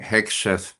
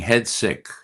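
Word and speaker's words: Hegseth: Well, something else that I see going on is uh exemplified by mispronouncing my mispronouncing hexath saying headsick.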